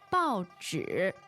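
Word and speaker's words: 报纸: 报纸, 报纸. 报纸. Yes. Wow, that sounds interesting. That sounds like a fourth or a third. It is a fourth and a third.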